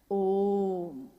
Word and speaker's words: ओम: हुई उस ध्वनि की आवाज थी अ उ म अगर एक साथ सुना